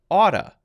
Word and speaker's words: ought to: Oughta. Notice the pronunciation.